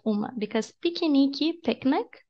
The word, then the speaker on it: piquenique: All of this sounds like E. All of them. I know this is an exception to the rule. If it's in the middle, don't pronounce like E, but this is a unique word, okay? Even writing it is so weird. But anyways, piquenique. That's how you pronounce picnic in Portuguese.